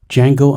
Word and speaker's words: Django: quentin tarantino's earlier 2012 django unchained the d is silent i do not consider django unchained to be a